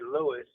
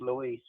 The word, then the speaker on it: Luis: Normally, people don't call me Louis because honestly, it's pronounced Luis.